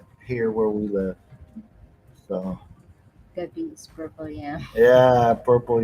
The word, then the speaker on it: gabi: How you say it? Gabi. Gabi. Yeah, magandang gabi means, but gabi is a type of root vegetable.